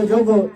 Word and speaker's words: योग: जो प्रक्रिया है वही योग है। इसी संस्कृत में कहा जाता है संयोगो योगो इत्युक्ते जीवात्मा परमात्मने। योगा कोई रिलीजियन नहीं है। योगा हम लोग योगा बोलते हैं, इनफैक्ट इसका उच्चारण होना चाहिए योग।